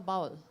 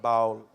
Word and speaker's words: Baul: First of all, a slight correction: the word Baul, how it's spelled, it's like ba in sheep, ba black sheep, and the wool in the sheep. So you add that Baul. That's the Baul. It's not Baul.